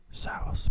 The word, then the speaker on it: Zaros: Zaros, pronounced Zaros, is the god of fate and control,